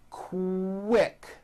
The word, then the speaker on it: quick: that so for example the word quick is pronounced with a k and a strong W sound KO quick like that